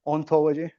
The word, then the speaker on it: hauntology: probably say this uh hauntology it's a very funny joke because it's like ontology but in French you pronounce it ontology it's hilarious I I